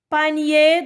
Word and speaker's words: panier: Panier d'osier. I-E-R se prononce yé.